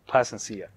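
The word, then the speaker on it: Plascencia: to say the last name plot was it Plasencia placencia Plasencia there we go all right here here are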